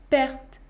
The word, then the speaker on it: perte: le son est lll autre exemple perte perte perte le mot pertes contient une seule syllabe qui se termine par deux consonnes prononcer art dans ce cas le se prononcer père perte perte la lettre e